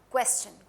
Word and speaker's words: question: S के साथ question. Question is not a correct pronunciation. क्योंकि इंग्लिश में जब S के साथ TION लगता है हम question बोलते हैं.